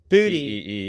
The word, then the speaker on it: Boutte: So, Pro Football Reference pronounces Keyshawn Boutte. Booty.